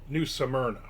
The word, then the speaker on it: New Smyrna: New Simna. But if you say it fast, it sounds like Smyrna. New Simra.